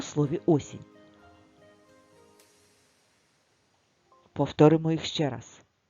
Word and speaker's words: осінь: тільки букв 5 так куди падає наголос в слові осінь на перший звук О а скільки звуків в